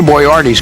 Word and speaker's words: Boyardee: of his name and he wanted to make sure that when he arrived that everyone would pronounce it properly so when he won the can he put it Bo Y - AR - EEE Hector boy Artie's career